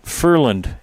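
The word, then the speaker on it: Førland: And we had relatives pronounced Furland, F-O with the umlaut above it, R-L-A-N-D.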